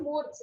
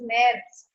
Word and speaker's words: März: It is not Murs, it is März.